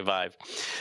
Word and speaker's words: Vive: Is that how you pronounce it? HTC Vive. Vive? Okay, Vive.